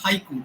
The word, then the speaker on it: haiku: syllable count in a haiku the word Haiku in English is a two syllable word in Japanese it's a three syllable word okay so so so